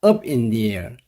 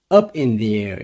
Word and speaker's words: up in the air: 미정인 이런 뜻인데 자 발음을 주의해야 됩니다 여러모로 해야 됩니다 up in there up in there 이렇게 해야 됩니다 자 그럼 그의 계획은